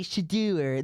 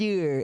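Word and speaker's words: Shedeur: we pay attention to, constantly say Sheduer. They add the "ewer" in there. Yeah, they can't just say Sheduer and pronounce it correct. It's Sheduer. It's Sheduer.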